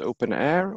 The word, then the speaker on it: openEHR: open EHR standard and open EHR sometimes pronounced open air or in different ways it's the same thing and questions during this